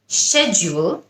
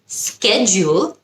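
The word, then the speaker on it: schedule: সময় অনেক কনফিউজ থাকি শেডিউল নাকি স্কেডিজউল দুটোই কারেক্ট শেডিউল হলো ব্রিটিশ স্কেডিউল হলো আমেরিকান সো এখন থেকে কিন্তু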